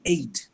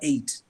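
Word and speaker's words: eight: If I say a word like 8, the number 8, the sounds you hear there there's 2 sounds. But when you spell that word, you use 5 letters. So the first sound A is made by 4 letters, E-I-G-H, it's A. And then you hear the sound T, which is T.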